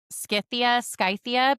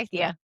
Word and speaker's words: Scythia: Scythia, because I think there's a Pokemon that's named Scyther, and it starts with that. Oh, okay. So All right. Scythia. I'm gonna say Scythia. Scythia.